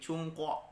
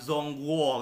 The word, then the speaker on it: Zhongguo: Sung Song Hye Sung nah kayak huruf g ini menjadi huruf k dibacanya jadi cungkok bukan cuma gua bukan zhongguo gitu ya bukan tapi Jungkook